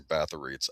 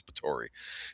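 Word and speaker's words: Báthory: People always say Baths. I think it's Ptori. The 16th century Hungarian countest rumored to bathe in the blood of virgins to stay young.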